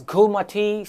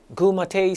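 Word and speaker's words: Goormaghtigh: Well, first of all, how is it pronounced? I'll try my best. It's called as Gumati cell. Gumati cell.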